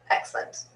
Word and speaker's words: excellent: excellent excellent excellent excellent careful you've written that you don't truncate it into two syllables excellent excellent it's definitely three excellent so long e